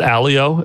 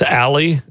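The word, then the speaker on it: Aly: out of an acquisition is it Alo is that how you're supposed to say it as Alo it's Ali Ali a l y do IO however you choose to pronounce that I missed that Microsoft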